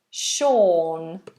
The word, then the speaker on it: Sean: have another name Sean Sean that uses quite a difficult long vowel or Sean it's quite far back in the mouth Sean if you are